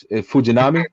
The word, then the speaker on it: Fujinami: say his name fuj I'm just say Fuji fujinami right said it right he said it good oh wow look at me hey for Puerto Rican guys but anyway so but so fujinami is a guy who hits 104 on the